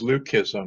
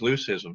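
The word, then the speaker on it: leucism: the birding population uh pronounces it as leukism man the rest is loose-ism so that's if you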